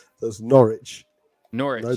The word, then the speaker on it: Norwich: i mean you're gonna have to stop this nora which i've been told to tell you how to say the name properties norwich there's no yeah we like sandwiches from norwich